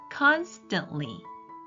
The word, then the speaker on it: constantly: 끊임없이 계속이라 뜻인데요에 보시면 ntl 음이 세가 연달아이 가운데 자음을 잘 발음을 하지 않아요 그래서 constantly constantly 이렇게 트 발음을 하지 않고 발음해 주시면 훨씬 더 원어민스러운 발음이 될 겁니다 constantly 끊임없이 계속 우리가